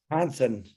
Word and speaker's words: Johnson: They don't pronounce the J. They say H, like Hansen. Hansen.